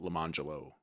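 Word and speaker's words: Lemonjello: And it's spelled lemon jello and orange jello. Nice. But she was pronouncing it Lemangelo and Orangelo.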